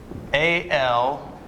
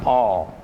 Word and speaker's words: al: trivia names as well a l or the word aldehyde and that's not pronounced that is not pronounced all that is pronounced al like your uncle al okay if you say